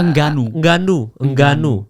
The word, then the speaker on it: Ngannou: Nganu, tapi ngebacanya bukan gitu ternyata. Engganu. Ya kita Nganu. Engganu.